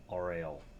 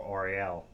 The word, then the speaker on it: Auriel: This is How Not to Play Auriel, or Auriel, depends on how you want to pronounce it.